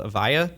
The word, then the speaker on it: Avaya: So one of those companies that you had a real impact on was a company called Avaya. Did I pronounce that right?